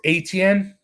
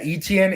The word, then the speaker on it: Etienne: of like le'veon bell pronounced atn atn yeah etn 18 i've heard it both ways jared so travis atn travis etienne we'll see draftknight but